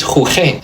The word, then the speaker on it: jugué: Jugar has a hard G. This is jugué. It doesn't sound anything like jugar, which is why it gets this U. Remember, it doesn't make a sound. It's not jugué. It's just jugué. It's just protecting the G from the E, keeping that hard G sound.